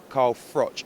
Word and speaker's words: Carl Froch: Is it pronounced Carl Froch or Carl Froch? Carl Froch is the answer.